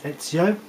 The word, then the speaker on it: Ezio: the characters will not heal automatically this case ezio spelled easy io but this is pronounced like you he's from italy another ancestor